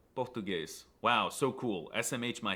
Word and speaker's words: português: Instead, they make silly noises like pronouncing S's at the end of words as an SH sound. So they say português instead of português.